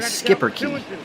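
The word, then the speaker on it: Schipperke: uh it is a skipper i'm gonna i'm gonna google that right now could you spell that for me uh it is a s-c-h-i-p-p it is not even spelled the way it sounds no it's one word i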